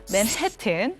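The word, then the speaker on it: Manhattan: 그게 바로 이렇게 발음해야 돼요. 맨해튼.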